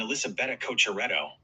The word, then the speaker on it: Elisabetta Cocciaretto: Haha, I've got you covered on the pronunciation, Gary. That's Emil Rusuvori, proper Finnish power baseline player, and Elisabetta Cocciaretto.